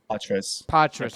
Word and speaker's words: Poitras: And then you have, how do you pronounce, is it Matthew Poitras? Poitras, okay.